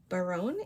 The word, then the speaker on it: Barone: This design is called Baron. It's spelled B A R O N E. That's the name of a Zenangle pattern.